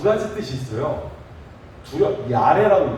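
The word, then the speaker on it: ירא: 야레라고 읽어요. 야레. 한번 따라해볼까요? 야레.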